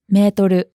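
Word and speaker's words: メートル: The word meter is originally French, which is why the Japanese pronunciation doesn't sound like the English word meter. Natsuko, how do we use this metoru in Japanese?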